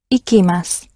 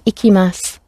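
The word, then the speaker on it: 行きます: about where i go so it rhymes with picky icky icky mass i'm picky about where i go so i go mickey mouse and i will go ikimas so again ikimasu as all the other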